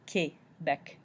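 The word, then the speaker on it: Québec: In English, we often pronounce it as Quebec, but in French, it's properly pronounced Quebec because it has that E with the accent aigu, Quebec, and we say the C at the end.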